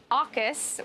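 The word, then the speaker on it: AUKUS: but this which is going to be known as say it with me aukis which is australia the uk and the us but in a lot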